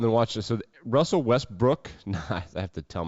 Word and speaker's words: Westbrook: watch this so russell westbrook nice i have to tell myself to say his name right russell russell west brook not russell west brick he airballs this three